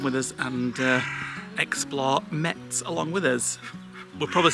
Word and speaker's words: Metz: Um so come with us and uh explore Mets along with us. We're probably saying it completely wrong, but that's how it's spelled.